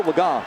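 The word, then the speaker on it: Legas: was number three cooper laga and yes i know we pronounced the name earlier a different way but it's cooper laga who had never thrown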